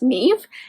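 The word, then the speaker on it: Niamh: name wrong it's uh-n-i-a-m-h but she's Irish so it's pronounced Neve and Neve is has worked at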